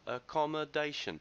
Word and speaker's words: accommodation: in today's lesson uh the first word accommodation accommodation the stress is on the fourth syllable second word that you